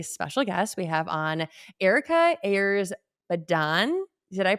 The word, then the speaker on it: Erika Ayers Badan: We have on Erika Ayers Badan. Did I pronounce that Yep, name?